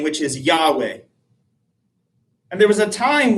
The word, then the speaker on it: Yahweh: So for a time scholars thought well you val and pronounce it as Jehovah. The vast majority of scholars believe that is incorrect now that it should pronounce something like Yahweh.